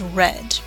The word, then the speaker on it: read: course irregular pronunciation so the pronunciation might be for example read which in present tense would say something like I read 20 minutes at night every day but when you talk about past cents like yesterday you're the spelling is the same right hard EAD but the pronunciation is red so yesterday I read